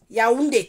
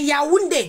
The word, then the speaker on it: Yaoundé: Yaoundé. Tu entends comment ça se prononce, hein? C'est Yaoundé, le village de Yaoundé.